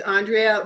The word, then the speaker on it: Andrea: yeah for sure Andrea my name is Andrea rhymes with mitochondria will you please correct